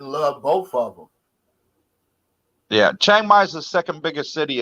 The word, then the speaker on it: Chiang Mai: I was in Phuket, and now I'm in, how you pronounce it? Chiang Mai? Chiang Mai.